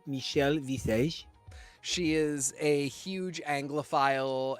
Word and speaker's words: Michelle Visage: those references actually and there her name is pronounced Michelle Visage she is a huge anglophile and was really